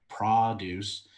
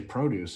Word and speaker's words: produce: But I always say produce, and I get in arguments sometimes about it. Yeah. So it's pretty funny. I actually didn't know there was two pronunciations till I was making a video on it, and I'm like, realize I had said it one way, and then in